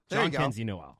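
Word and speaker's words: Jhonkensy Noel: to counter and say, can you say his name? John Kenzie. God, what's his last name? Noel. John Kenzie Noel. There we go. It is a really funky spelling, I will say.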